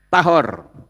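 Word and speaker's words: טהור: yang bawah tame, ya, tet he res itu membacanya tahor.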